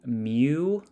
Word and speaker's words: mu: which is given by the symbol mu that's m u mu um pronounce m e w mu of the discrete random